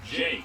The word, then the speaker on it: JK: instead greeted by a student named JK, pronounced Jake, who's willing to give him info if he gets info in return.